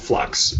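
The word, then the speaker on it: f.lux: It's called Flux, and it's spelled F and then dot or a period, Lux.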